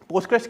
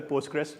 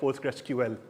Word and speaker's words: PostgreSQL: So it's either Postgres or it's PostgreSQL. ठीक है? It's not Postgre, please.